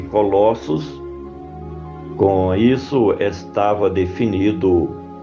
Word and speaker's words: Colossos: Pronuncia-se Colossos.